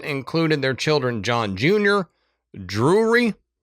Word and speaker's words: Drury: their children, John Jr., Drury, which is an interesting name. Drew, R Y, Drury.